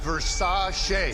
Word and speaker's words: Versace: Pronounced Versace.